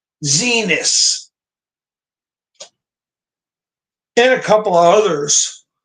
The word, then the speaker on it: Xinis: And these judges, I mentioned a couple of them, Chen and Boasberg, who was nominated by Roberts, and Judge Zenas, that's spelled Xinis, Zenas, and a couple of others.